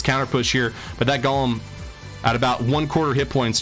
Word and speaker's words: Golem: It's Golem, not Gollum, says Nutscrack92. Well, thank you for your pronunciation lesson. I don't necessarily know if that's settled science or not, though. Might be Golem one way, Gollum the other.